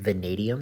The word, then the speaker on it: vanadium: on the periodic table it's a Vanadium that's how you pronounce it and we do not